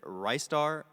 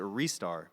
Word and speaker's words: Ristar: so as I mentioned there's a guy who asked a bunch of Sega employees how you pronounce wrists are they said ristar restar and wrists are so there is no correct answer but in Japan it is a restar okay so the official